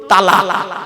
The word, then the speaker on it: তলাক: Islamic পরিভাষা একটা শব্দ বলেছে কি বলুন তো তালাক বলেন বাপ হ্যাঁ শব্দটা কিন্তু তালাক নয় বাপেরা মারাত্মক বড় ভুল বলি আমরা শুনিনি